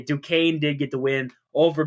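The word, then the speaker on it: Duquesne: Dukes they also lost their Duan sorry said it wrong again I I figured out how to finally say it du uh duaine it's how you say Dukane did get the win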